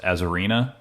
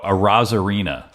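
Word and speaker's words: Arozarena: Yeah, Randy, I think it's pronounced Azarina. I mean, that is just an amazing game that they've had going on so far. It's Andoriza. What? Hold on, let's pull it up here. Yeah. Oh, Arazarina. Sorry, my bad.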